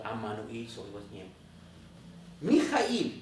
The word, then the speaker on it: Emmanuel: So they do not consider the Aramaic meaning, like Emmanuel, which is pronounced as Ammanuel.